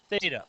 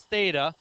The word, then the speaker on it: Theta: t in there and it's the Greek letter that makes the sound th so Greeks didn't put